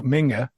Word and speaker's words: Minge: Well, I might have sold you a dummy here because reading this, that Ralph Minge, actually pronounced Ralph Minger, was a prolific striker for the successful Dynamo Dresden side of the 1980s.